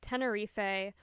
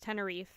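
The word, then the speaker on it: Tenerife: Now we have the Tennere or depending on where you may live pronounced Tenneref airport disaster.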